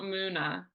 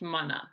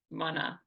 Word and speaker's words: Muna: But for those that still don't know, it's not Muna, it's Mana. I always tell people think of it like money. Money, Mana. That's how you say it.